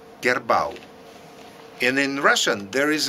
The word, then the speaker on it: kerbau: it's heard and in malay the buffalo is pronounced like kerbau kerbau and in russian there is a word karova